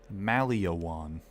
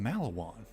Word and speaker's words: Maliwan: He pronounced this Maliwan. It's fucking Malawan. There's no extra letter there.